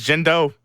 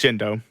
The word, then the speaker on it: Gendo: name right oh no his name is jindo it does a e it's jindo will orange ever accept